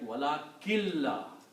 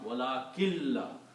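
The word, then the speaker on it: وَلَٰكِن لَّا: Also, when you read these two words together, then you do not pronounce the full sound of noon, but make it like wala killa.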